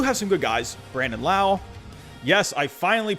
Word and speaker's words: Lowe: Brandon Lau. Yes, I finally pronounced that right.